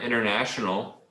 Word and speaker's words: international: And at the end of this word, international, try to make the L sound like, oh, international.